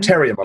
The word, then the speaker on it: Terriermon: Terriermon, like terrier, like the dog.